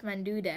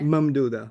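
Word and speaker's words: ممدودة: See, I don't know how to say the Alif Manduda. Mamduda. Mamduda? Mamduda, that's it. Manduda. I said Manduda. Alif Mamduda. Think of it as ma'am and dude.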